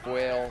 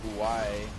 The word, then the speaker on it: Quail: Team we're up against, by the way, is Quail, not Kawaii.